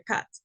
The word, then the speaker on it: cut: va a ser esta Cut que se pronuncia Cat Okay continuamos con el